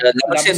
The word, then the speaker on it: Labuschagne: Warner, Smith, And Labuschagne will play. Labuschagne. Yeah, Labuschagne. I will pronounce him in Harsha Bhogle அந்த Afrikaans.